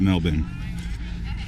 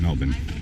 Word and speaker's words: Melbourne: But the reason they're a Melbourne, by the way, it is pronounced Melbourne if you're a non-American. That's the real way you say it, Melbourne.